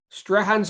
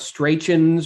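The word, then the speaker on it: Strachan's: you know what stuart strahan's ice cream which is how you i learned how you pronounce it it's not stray chins or like you know but strahan's ice cream in dunedin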